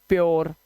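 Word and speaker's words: pure: ये यू के बाद आर ई आएगा तो यू को ओ से पढ़ना है। लो यू को किससे पढ़ना है? देख लो इसको। इसने ओ बना दिया यू को। मैंने कहा था ना आर बहुत खेल खेलता है। इसलिए इसे पूरे नहीं पढ़ते। इसे पढ़ते हैं प्योर।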